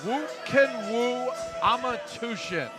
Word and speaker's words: Х. Амартүвшин: You see the Mongolian flag being held up as Woo Amартүвшин. Say that 3 times fast. That one is a tongue twister. Doesn't look like Woo at all, but that's how you pronounce it.